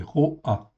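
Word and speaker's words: רֹעַ: Ce n'est pas ra ou ra'a, en fait, ici, c'est ro'a. Le point, en fin de compte, c'est un O, en fait, ici, c'est un olam, en fait, en hébreu. Donc, ça prononce ro'a.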